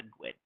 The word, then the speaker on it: GUID: So it's a GUID, or GUID, depending on how you like to pronounce that.